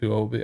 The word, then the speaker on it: Huobi: Yeah, it's Huobi. I always have to pronounce it like that.